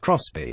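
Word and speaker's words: XBEE: and lots of space the xB pronounced cross B is a mini toyota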